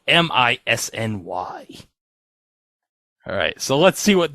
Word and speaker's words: Misny: Starting with Tim Misny. Like Disney, but it's spelled M-I-S-N-Y.